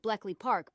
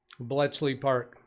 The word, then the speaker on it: Bletchley Park: Martin Hogg said Colossus at Bleckley Park broke Enigma code. Bletchley Park. Yeah, Speaker Bot pronounced it wrong, didn't she? I believe that's Bletchley.